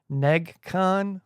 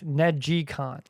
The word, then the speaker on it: NeGcon: I thought it was just Negcon, but it's Negicon.